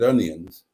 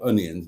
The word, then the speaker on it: Onions: kids at university, Richard Onions, and he did pronounce it onions, not onions, like some people who were called onions did. He pronounced it onions.